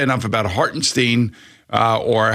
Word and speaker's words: Hartenstein: Hartenstein, which is also how Mike Breen says it. Yeah, right. He was doing the German thing. Well, I think that's the way it's pronounced. Hartenstein.